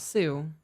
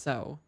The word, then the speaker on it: sew: It's not sue. It says sue, but it's pronounced sew.